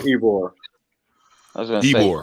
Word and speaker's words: Ybor: Yarborough. Oh, Yarborough City. Yeah, Okay. that's it. Uh-oh. It's called Ybor.